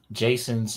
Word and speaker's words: Jaeson: Jason's Mistress, but it's spelled Jason's Jaeson. Jason's Mistress. J-A-E.